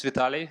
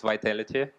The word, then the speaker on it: Vitaly: and I'm your guide my name is Vitali some people pronounce it Vitality uh yeah it's easier for them I'm from was wasto